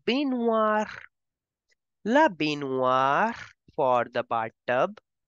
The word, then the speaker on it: baignoire: The G in the end, the G in the middle is for decoration. OI will give the sound of wa. Bathtub will be pronounced as la baignoire.